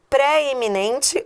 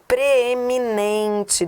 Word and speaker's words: preeminente: É préeminente ou preeminente? preeminente. Deixa eu só corrigir esse I aqui. Um irrinho de digitação. Preeminente. Essa é a forma correta. Preeminente por quê? Porque a pronúncia é átona.